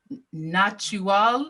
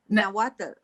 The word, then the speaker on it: Nahuatl: And I don't want to say this incorrectly, so please correct my pronunciation of this. The natural cosmology? Nahuatl. Nahuatl cosmology.